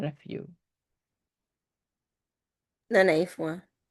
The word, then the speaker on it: Fois: Fois. Like Fois. FOIS, like foie, like foie gras.